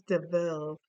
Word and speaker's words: de Vil: It's Deville. It's spelled, how does it spell? It's spelled Deville, but or, yeah, it's spelled devil, but it's pronounced Deville.